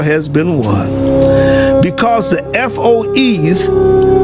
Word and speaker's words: FOEs: Because the FOEs, which I pronounce as foe, is an acronym for